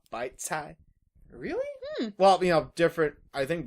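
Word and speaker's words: 白菜: Although it's kind of funny hearing called bok choy because, like, in Chinese class, they tell us it's pronounced bite cai.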